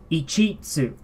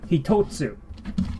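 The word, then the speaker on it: 一つ: This is not pronounced ichitsu. No, we do not say ichitsu here. And how do we know this? Well, because of the tsu. When you see the tsu, we have a different way of pronouncing this. Hitotsu.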